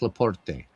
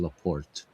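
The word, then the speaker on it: LaPorte: At second base, Frank Leaporte at And I use the Italian pronunciation. I know it's probably Leaport. You know, if he's French, it's Leaport, but I'm used to saying the Italian way.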